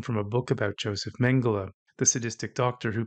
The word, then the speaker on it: Mengele: a book about Joseph Mengele the sadistic Doctor Who Peterson once referred to as mengali and surreptitiously alluded to when he spoke about the boys from Brazil I also suspect he mispronounced mengele's name to distance himself from